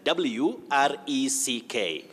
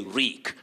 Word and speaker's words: wreak: to wreck that is w-r-e-c-k floods wreck havoc which we should not use that sounds vague floods reek wreak havoc rick means to cause floods cause havoc we say reek and the right word